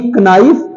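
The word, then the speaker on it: knife: क्या इसे नाइफ बोले के एन आई एफ नाइफ नहीं इसमें के साइलेंट है तो ये नाइफ हो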